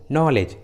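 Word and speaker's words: knowledge: के पहले होता है, तब के साइलेंट होता है, के का उच्चारण नहीं करते, जैसे नाइफ, नी, नो, नॉलेज, नॉक। देखिए सभी इंग्लिश वर्ड्स में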